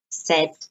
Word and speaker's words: said: so have had pink so pronunciation say said pronunciation said not saved said bye thought made make find